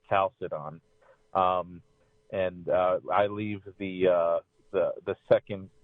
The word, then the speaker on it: Chalcedon: Well, if you wanted to get real technical, there's a K sound at the beginning and in the middle, so it would be Chalcedon. Okay. But nobody ever, it's just not pleasing in the English tongue to say it that way.